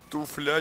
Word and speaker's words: туфля: Ударение на У. Да, ударение в туфле на У, это я точно, это я помню.